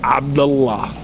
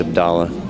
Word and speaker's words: Abdullah: Pronounced it wrong. Amer Abdullah. No, Abdullah. I've known him for a couple of years. It's Abdullah. I know Arabic. It's Abdullah. Well, he doesn't say Abdullah, so.